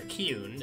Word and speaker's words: Kuhn: My name is Kuhn, or Kuhn is how you're supposed to pronounce it. It's German, K-U-H-N.